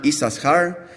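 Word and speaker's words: Issachar: read in the Torah the only word in the whole Torah that has a letter that is not pronounced when Lea Lea names her fifth son misses her we find the letter sin or Shin the only letter we do not pronounce so I invite you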